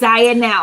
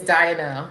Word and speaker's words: Dianelle: I was just saying the pronunciation is Dianelle. Yep. Dianelle. Got it. I'm sorry. I'm gonna get it right. I knew it because it spelled like Diane and then L, right? So Dianelle.